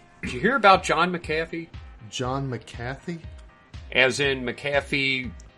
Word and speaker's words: McAfee: Well, it's McAfee.